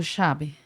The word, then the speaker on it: llave: Então, o nosso problema é se escrever llave ou chave, ou llave, né? Porque na Argentina se pronuncia chave. Já confunde com CH.